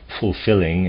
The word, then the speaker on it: fulfilling: to regulate the breath in words like fulfilling and willing both l's must be pronounced you shouldn't put an h into the first l but the two l's must be sounded one after the other you must also try